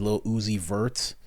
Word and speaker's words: Lil Uzi Vert: His name's Lil Uzi Vert because it rhymes with Lucifer.